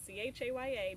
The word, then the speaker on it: Chaya: It's spelled C-H-A-Y-A, not like chai, the tea. Chaya.